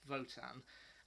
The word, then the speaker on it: WOTAN: a computer known as voton spelt wotan but pronounced votan and once it's kind